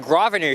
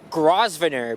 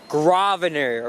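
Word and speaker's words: Grosvenor: I think it's called grosvener but no it's graer right you have to remember guys the S is silent by speaking of a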